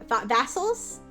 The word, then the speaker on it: Vassal: Oh, rhymes with tassel. Vassel. Okay, thank you. Like Vaseline. Yeah, like Vaseline.